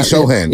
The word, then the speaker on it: Sochan: Sochan? Jeremy Sohan. Jeremy Sohan. I always forget how to pronounce that last name.